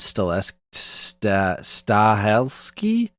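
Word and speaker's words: Stahelski: right now is uh Chad stole ski is how you say it I don't know who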